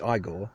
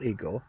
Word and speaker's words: Igor: He arrives in Transylvania and meets Igor, not Igor, Marty Feldman, in arguably